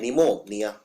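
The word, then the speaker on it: pneumonia: ऐसे लिख देते हैं निमोनिया तो ये इतना आसान नहीं है निमोनिया पी से शुरू होता है लेकिन इसमें पी का उच्चारण नहीं किया जाता तो निमोनिया को लिखते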